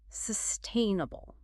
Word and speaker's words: sustainable: twister it can be the key is to emphasize the first syllable sustainable think of it as